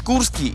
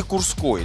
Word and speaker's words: Курский: Как правильно говорить, Курский или Курской? Даже здесь, на стеле района, написано Курской район.